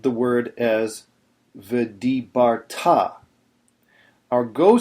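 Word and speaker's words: וְאָהַבְתָּ: first you should have pronounced the word as viarta our go syllable is TA the Temptation on a word like this is to say is to put the emphasis on viarta which is what a lot of uh a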